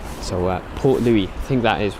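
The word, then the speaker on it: Port Louis: yeah Captain Liam saying the s in Port Louie is silent so uh Port Louie I think that is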